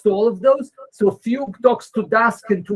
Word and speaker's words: Fugue: There's a library called Fugue. I'm pronouncing it right. It's like the instrument.